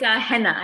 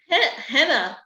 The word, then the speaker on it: Haena: It's Henna. It's my Korean name. Henna. Henna, and you say it almost like henna tattoos, yeah.